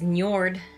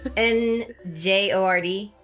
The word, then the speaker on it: Njord: Norse god of the sea is Njord. Njord of the Ford? N-J-O-R-D. But you know how, like, Bjorn is spelled with, you know, so yeah. Njord.